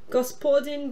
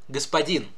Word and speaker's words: господин: Gospodin Braginsky, or if you want to be a woman, Gospoja Braginsky. Oof on that pronunciation. Господин, госпожа, господин and госпожа. Russian stresses are not very regular.